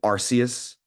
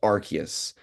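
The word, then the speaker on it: Arceus: if you like Po Pokemon uh they'd say arus the god Pokemon but apparently I was corrected on that that it's pronounced archus so it doesn't fit exactly as well but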